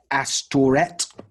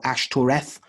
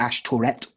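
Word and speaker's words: Ashtoreth: turret or ask turret as a distortion of ash that it seems and it said that probably because the last two syllables have been pointed to vowels and that gives us where is it Bosch F which is one of the words for abomination so we start to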